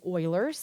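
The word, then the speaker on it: Euler: You're like that's not how you say that but it actually is Oilers. That's how you pronounce that.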